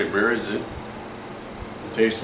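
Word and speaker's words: Märzen: I heard you gotta roll your tongue when you say Marzen. Yep. Well, it's like Marzen. Marzen. Marzen. There's no mit. It's Marzen.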